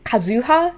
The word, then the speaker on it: Kazuha: think i hear kazuha it's the same as inazuma you really want to put it in the second one but um the intonation will go in the first syllable for um and what i've noticed is that a lot of english speakers really want to put the intonation in the sec the second or third syllable when um japanese native speakers will put it in the first or second another thing i want